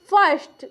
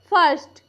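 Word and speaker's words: first: एस टी क्या होगा फर्स्ट इसे हम क्या पढ़ेंगे फर्स्ट तो देखिए यहां पे आई के बाद क्या आया हुआ है आर आया हुआ है और इसमें इसमें कोई दूसरा वावेल्स नहीं है इस आई का उच्चारण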